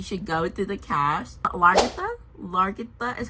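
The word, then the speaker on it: Lagertha: Largitha is how you pronounce her name.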